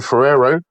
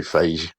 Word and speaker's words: Feige: Marvel Studios boss Kevin Ferrero. Sorry, Feige. He still said his second name wrong.